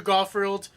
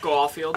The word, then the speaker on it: Garfield: Andrew Garfield, why did I say it like that? Garfield.